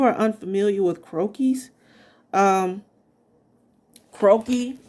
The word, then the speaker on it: croquis: unfamiliar with croquis um croaky is spelled c-r-o-q-u-i-s again c-r-o-q-u-i-s croaky is basically um a french term that it that means